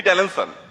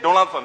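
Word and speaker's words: Donaldson: বড় কথা জিমি এইযে জিমি ডেলেনসন উনি আসলে ডোনাল্ডসন সরি আমি উচ্চারণটা ভুল করেছি এই না এই ব্যক্তির নেট অর্থ কত?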